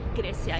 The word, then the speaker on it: Gracia: तो यहाँ पे ना भाई एक normal stranger से मैं बात कर रहा था, Gracia, right? Gracia, yeah, you're saying it right.